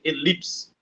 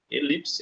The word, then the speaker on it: elipse: vaco beleza letra C elipse elipse é uma par oxido não o lip ali vai ser a minha sílaba mais forte Porém quando to vi